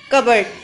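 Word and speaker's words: cupboard: इसमें पी जो है वो साइलेंट होता है, इसलिए हम इसे बोलते हैं इन कबर्ड.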